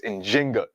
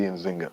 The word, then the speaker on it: Njinga: modern scholarship has shown the more correct way to pronounce her name and in Kimbundu, the language that she spoke is with the J. So it's Njinga, and Bandi, but you'll also see Nzinga.